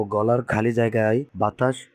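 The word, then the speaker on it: ب: তারপরে আছে বা। এই বা হরফের উচ্চারণটা হবে দুই ঠোঁট একত্রিত করে, মুখ বন্ধ করে দুই ঠোঁট একত্রিত করার পরে তারপর দুই ঠোঁট পৃথক হয়ে যাবে, তাহলে উচ্চারণ হবে বা, যেরকম আপনারা এরকম ফটোর মধ্যে দেখতে পাচ্ছেন।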